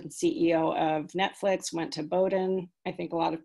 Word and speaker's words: Bowdoin: of netflix went to bowdoin i think a lot of people sometimes wonder how you say bowden the o is silent in bowdoin and the next